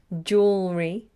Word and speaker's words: jewelry: pronounce the word jewelry jewelry and jewels jewels you have to get the L in their jewelry and jewels I